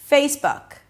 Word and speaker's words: Facebook: Then we have the word book, book. Notice that it's not book, but book. The sound there, the vowel there is somewhere between u and a and o.